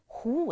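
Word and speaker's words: 狐: And the word Hu itself, meaning fox, is also a homophone for another name, Hu. And it's pronounced exactly the same, in case you all wondering, did I hear it wrong? It sounds exactly the same.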